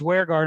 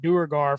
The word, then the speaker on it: duergar: he was talking about duergar and he's like yeah and i learned i learned it's pronounced where guard not durgar from jackson crawford you